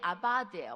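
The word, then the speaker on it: עבד: 이게 아바드예요. 원래 V 아바드인데 우리 이제 V 발음 잘 안 하니까 아바드 해보세요.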